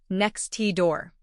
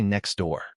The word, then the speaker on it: next door: If I pronounce it perfectly, as a textbook would suggest, I say next T door, but my tongue has to stop, reset, and then start again to make that T sound. And ain't nobody got time for that. In the real world, we just say next door. That T is gone.